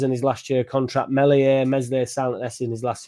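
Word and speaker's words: Meslier: year of the contract Melier Messier silent s probably wants a particular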